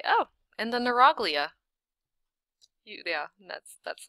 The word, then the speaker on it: neuroglia: like it h nagia neuroglia that's what you're supposed to call this you're supposed to read along and just say oh and the neuroglia you yeah that's that's